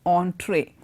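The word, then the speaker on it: entrée: E and TR ie doesn't mean entry it's pronounced entree and this is the main course of a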